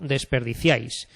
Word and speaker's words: desperdiciáis: Por ejemplo, desperdiciáis, desperdiciáis, y todo esto es una sola sílaba. Ciáis, se pronuncian en un solo golpe de voz.